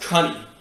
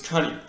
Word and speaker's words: coney: c-o-n-e-y and it's pronounced cunning it's not crony it's pronounced the proper way to pronounce it is cunning now that rhymes with bunny which is exactly what it is now a coney is